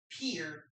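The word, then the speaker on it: Pierre: it down please state whose capital is properly pronounced peer what's up Dakota please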